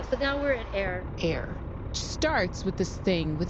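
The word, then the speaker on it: AIRE: air starts with this thing with a very mysterious name. Air like air that like that we breathe air.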